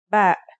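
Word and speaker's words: بِ: Let's see the 3 basic voweling signs when used with ba. First, here's the fatha. The pronunciation will now be ba. Next, this is a kasra. This is now pronounced as b.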